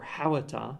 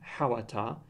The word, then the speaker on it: hhawata: As we can see here, the linker for hawata, man, is a high-toned o, but when we say the word man, hawata, we do not pronounce the o.